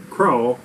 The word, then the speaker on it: craw: And that's what goes into their craw. Which is spelled crop. But if you're from the South, it's a craw.